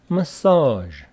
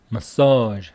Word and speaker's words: massage: the other one is massage so message m e SS a g e but massage with the stress on the second syllable ma a and the